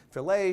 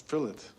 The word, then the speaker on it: filet: Will Smith as Lucifer and William Hurt saying filet should be pronounced fillet because you don't call a wallet a wall. What? No, it's fillet. Just as in wallet, you don't say wallet, do you? You say wallet.